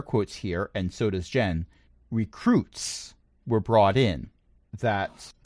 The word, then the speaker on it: Gen: svart has decided that you can call him jen g-e-n short for in-gen but that prevents the